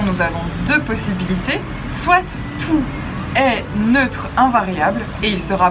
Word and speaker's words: toutes: le prononcera tous, et s'il est féminin, on le prononcera toutes, avec un S à la fin, mais qu'on n'entend pas, toutes.